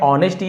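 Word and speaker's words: honesty: हम एच को नहीं पढ़ते। साइलेंट होता है।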